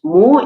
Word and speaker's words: mot: it's spelled in French, by spelling this now differently as MOT, it sounds exactly the same, but it draws attention